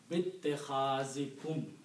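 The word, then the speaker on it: بِاتِّخَاذِكُمُ: So is this clear that this alif is not pronounced because you're combining ba with the ta?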